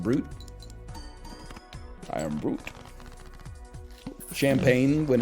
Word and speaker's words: Brut: don't know art Brut Brut is pronounced brute I am brute champagne